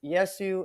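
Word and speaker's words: Ἰησοῦς: But it's the idea being that I think that the pronunciation of his name was Yesu in the original Greek, and Yesu sounds like yes you.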